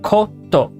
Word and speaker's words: コート: Coat is a borrowed word from English to mean coat. Pronounced koto.